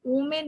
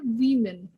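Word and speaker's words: women: সময় বলি ওম্যান ওমেন, এই ওমেন না, এটা ওমেন মানে হচ্ছে OMEN। এই ওমেন টার্মটা মানে হচ্ছে খারাপ জিনিস, খারাপ খবর, দুঃখের খবর এগুলো, তো ওমেন নয়, জিনিসটা হচ্ছে উইমেন, এর প্রোনাউন্সিয়েশন হচ্ছে উইমেন। অবশ্যই হ্যাঁ উইমেন, তাহলে এটা।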